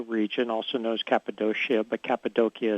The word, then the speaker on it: Cappadocia: also knows Cappadocia but Cappadocia is how they tend to pronounce in Turkey which is the area